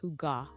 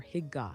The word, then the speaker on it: Hygge: Ah, you're talking about Hygge, pronounced Huga or Hygga, depending on who you ask.